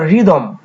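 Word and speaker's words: rhythm: সেই ভাবেই পাচ্ছি আমরা রিদম রিদম শব্দটিতে আর এর পরে এইচ আছে আর উচ্চারিত হচ্ছে কিন্তু এইচ উচ্চারিত হচ্ছে না আবার আমরা দেখে নিতে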